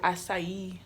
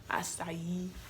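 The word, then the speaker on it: açaí: That's how you pronounce it too, acai, acai, acai.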